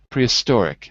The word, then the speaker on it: prehistoric: the third prehistoric I'm for me prehistoric I'm saying it on the third if I said it on the second it would be prehistoric that would be the second prehistoric third prehistoric so for me it's definitely on the third and I agree with